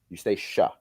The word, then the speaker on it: Eustacia: Eustacia with a sh. Eustacia.